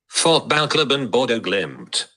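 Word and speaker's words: Fotballklubben Bodø/Glimt: How do you pronounce it? Let me see. Fotballklubben Bodo Glimt.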